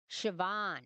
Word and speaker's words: Siobhan: So oh, Siobhan. Okay. Siobhan sounds like Siobhan. Okay, that's good to know because mispronounce everything.